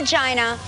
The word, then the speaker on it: Gina: ringing hello you reached Gina it is pronounced Gina it's pronounced Gina Gina not yeah all right Gina